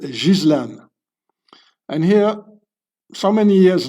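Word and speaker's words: Ghislaine: It's so her name is not Gileain or whatever you pronounce it. It's a French name. You pronounce it Jizlan.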